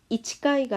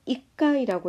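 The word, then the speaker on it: 一回: 여기서도 이치까이가 아니고 이까이라고 읽는 거 좀 알아둬야 되겠죠.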